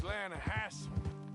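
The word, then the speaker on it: Lannahechee: The other day, I rode down to the Lanahatchee River. I caught some beautiful steelhead trout. In the Lanahatchee River. No. The Lanahatchee. It runs right near here. Yeah, but it's pronounced Lanahatchee.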